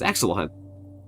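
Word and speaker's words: Axolot: The amount of times that I've seen people spell it as Axelottle really upsets me. It's It's Axel a lot.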